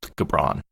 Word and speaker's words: Gibran: They did a double version of The Prophet by Khalil Gibran. Nin says hard G. The Prophet by Khalil Gibran.